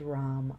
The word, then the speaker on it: ram: Seed syllable here is Ram, R-A-M.